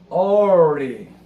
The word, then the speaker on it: early: 예, 그다음에 early. early, 이건 어려워요. R 발음은 천장에 닿을 거 말까고 L 발음은 완전히 닿아야 돼요. 그래서 early, 우리말처럼 early 이러면 안 되고 early. 이거 진짜 early, 우리말에 없는 거예요.